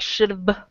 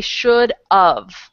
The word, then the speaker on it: should've: it like this, and a lot of non-native English speakers have trouble pronouncing the VE because have, the end ends with v, so they say like should have or something like that. And I taught these other guys, Fernando and Omar, that if you just say the word of, you'll say it correctly every time.